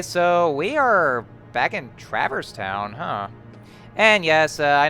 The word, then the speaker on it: Traverse Town: know I know it's actually supposed to be pronounced traverse and I actually used it a lot of